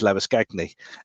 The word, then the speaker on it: Labuschagne: And every time he referred to Labuschagne, he was actually using the South African pronunciation, which is Labuschagne.